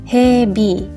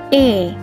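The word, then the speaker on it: へ: Nah, sebagai partikel ini bacanya juga spesial, bukan he tapi e. Misalnya Tokyo e. Tokyo e ikimasu.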